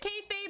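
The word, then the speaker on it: kayfabe: unhelpful okay fabe okay did you guys hear what it said it said k fave e okay okay yeah he says k fabe okay um i don't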